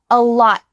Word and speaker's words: lot: Your tongue stops at the top of your mouth. So can you say that with me? A lot. Is your tongue on the top of your mouth? I hope so. A lot. A lot. Don't let air pass through. Don't say a lot. Instead, just let it stop there.